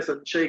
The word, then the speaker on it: संशय: संशय, संशय यानी संशय, हिंदी में संशय के राइट प्रोनाउंसिएशन इज संशय, क्योंकि स के बाद श है, पीछे स आता है, तो ऊपर जो अनुस्वर है उसको सौ कहते हैं, हंस, हंस कहते हैं, वो हंस होना चाहिए।